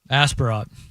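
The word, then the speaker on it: Aspirot: Um just and and when it comes to hits, is it Asperat? Is that how I say his name? Asparat.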